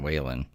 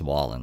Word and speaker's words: Wallen: Morgan Morgan Wallen or Morgan I think she calls it Morgan Whan. I think it's supposed I think his name's pronounced Wallen though.